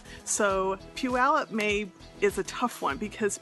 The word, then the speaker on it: Puyallup: The first one is Puyallup. So Puyallup is a tough one because people get messed up by the Y. Ignore the Y, and it's Puyallup.